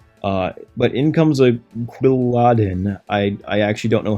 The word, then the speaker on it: Quilladin: but Inc comes a quadin I I actually don't know how to pronounce this Pokemon I think it's quadin or quadin or yeah quadin sounds quilladin sounds better it's like Paladin plus quill I think anyway very